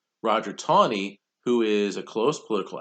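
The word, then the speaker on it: Taney: Roger tawny and spelt a knee but it's pronounced tawny Roger tawny who is a close political ally of Andrew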